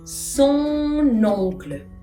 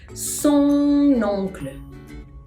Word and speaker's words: son oncle: Son oncle. Son oncle.